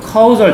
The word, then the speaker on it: causal: 여러분, causal 잘 봐. 발음으로 구분해. causal.